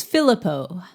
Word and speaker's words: Philippou: It's Filippo. Thank you. I watched a video and they pronounced it, thank God.